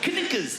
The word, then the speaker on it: knickers: Why would a K be silent? Knickers.